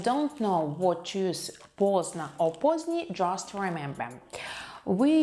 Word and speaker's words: поздно: Поздний. Поздний, adjective. Поздно, поздно, adverb. Late. We don't pronounce the letter D here.